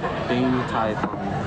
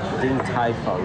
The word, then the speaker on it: Din Tai Fung: Din Tai Fung. Din Tai Fung.